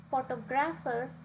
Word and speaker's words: photographer: on the first syllable whereas photographer has stress on the second whereas photographic has press